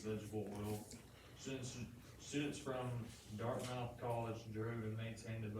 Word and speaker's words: Dartmouth: know what we're to name this dart it's pronounced dartmouth college it's one of the ivy league schools